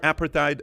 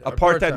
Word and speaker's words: apartheid: oppressive uh uh uh how do you pronounce that word apatite regime which say that apartheid apartheid which is apartheid is what